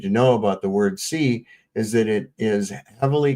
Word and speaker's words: qi: Be aware that the Chinese wordqi is pronounced somewhat similar to the English word C. Okay? So they c they say it's C. I've always pronounced it chi.